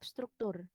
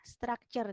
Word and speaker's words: structure: Kalian biasanya yang salah itu bagian dari structure. Kalian bacanya tetap struktur. Ya, structure tetapi.